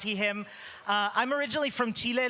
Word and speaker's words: Huidobro: lovely introduction from Yanna my name is pronounce Heim uh I'm originally from Chile living in Austria